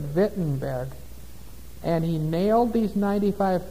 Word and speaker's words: Wittenberg: Wittenberg there in Germany they'd pronounced that vent in bed and he nailed these